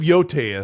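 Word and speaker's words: Yōtei: I used I looked it up when when the game came out that year and I and I pronounced it correctly for the for a while. But it's Yote. Yeah, it's Yote.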